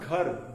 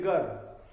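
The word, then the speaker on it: घर: In Hindi, if we have to pronounce ghar, G-H-A-R, although it is house in English, but ghar, G-H-A-R. But these Britishers, they don't have a gh sound in English, so they cannot pronounce it. They will say gar.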